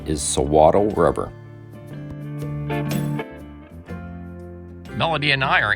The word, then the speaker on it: Suiattle: so throughout this video the correct pronunciation is sawaddle rubber melody and i are entering the bakers nokwami national forest we're on forest road 26 national forest road 26.